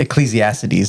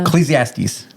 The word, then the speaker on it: Ecclesiastes: Okay, I pronounce it Ecclesiastes, and she's like, there's no I or E or whatever.